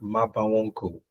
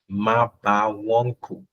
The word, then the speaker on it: Mabawonku: It's you can actually call me, but it's pronounced Mabawonku.